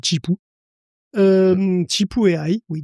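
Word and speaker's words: Zhipu: Et justement dans c'est Chipu ou Zipou, je sais pas trop comment ça se prononce. Bon, c'est Chipou.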